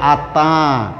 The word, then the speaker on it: আত্মা: ক্ষান্ত হলে চলবে না, মনাসিক্য ধ্বনি তাই উচ্চারণ করতে হবে আত্মা।